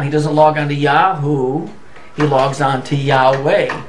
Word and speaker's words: Yahweh: now often pronounced as Yahweh although Yahoo is probably the more correct pronunciation so here we've established